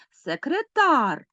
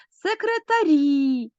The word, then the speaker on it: секретар: Отже це мішана група секретар суфікс ар і наголос падає на цей суфікс але ми змінюємо слово секретарі наголос переходить на закінчення і закінчення у нас